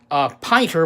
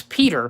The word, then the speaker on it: Pieter: I'd never seen before which I thought his name was pronounced Piper but actually again it's Peter Peters Swanepoel and he